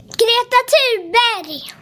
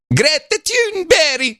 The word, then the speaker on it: Greta Thunberg: So, this is how the Swedish kids pronounce Greta Thunberg pronounce her name. I saw this. Here we go. Her name is Greta Thunberg. Greta Thunberg.